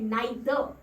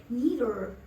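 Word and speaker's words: neither: सो अगर British pronunciation की माने तो ये है नाइदर, नाइदर, नाइदर। लास्ट का र स्किप कर दिया उन्होंने, नाइदर। ठीक है, और अगर अमेरिकन प्रोनाउंसिएशंस की माने तो कहते हैं नीदर। वो र को बोलते हैं, वो लास्ट के र को डेफिनेटली बोलते हैं। ठीक है, सो इट्स नीदर।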